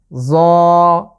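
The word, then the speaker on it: ظاء: একটি নোক্তা এসেছে উপরে, এটার উচ্চারণ হচ্ছে জ জ। আবারও খেয়াল করুন, জ। তাহলে ত এবং জ এই দুটো লেটারে এক আলিফ করে টেনে পড়বো আমরা। জ এই লেটারটি অনেকটা সফট বা পাতলা করে উচ্চারণ করতে হবে।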